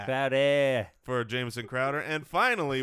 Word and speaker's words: Crowder: And we also have a guy who it's pronounced Crowder. Crowder for Jamison Crowder.